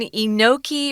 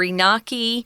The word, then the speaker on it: enoki: fun uh there's one kind the last one enoki or inaki uh it's pronounced either way we're gonna say enoki when